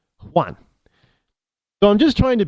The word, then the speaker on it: Juan: So it's kind of like Juan. Well, we just say Juan. Well, that's not how the name was originally pronounced. But it comes across, across the border, across the pond, and and you get it's all of a sudden it's a W instead of the J.